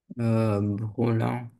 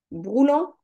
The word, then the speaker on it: brûlant: Brûlant. Broulant?